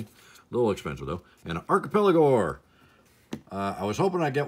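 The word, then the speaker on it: Archipelagore: It's Archipelago, just so you know. Archipelago. Like archipelago, but gore.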